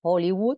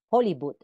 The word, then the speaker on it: Hollywood: En vez de decir Kuwait, se diría Kuwait, o Hollywood sería Hollywood. Seguimos por aquí.